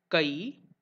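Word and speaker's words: કૈ: In Hindi, it will be pronounced as ka, ba, whereas in Gujarati it is kai, bai.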